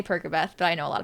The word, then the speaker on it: Percabeth: want to pronounce it a lot of people think it's persabeth because his name is Percy not perky but Percabeth is just more fun to say it sounds like percocet I say percobeth but I know a